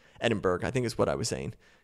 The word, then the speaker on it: Edinburgh: there and said, hey, FYI, Jared, you're not pronouncing Edinburgh, I think is what I was saying, correctly.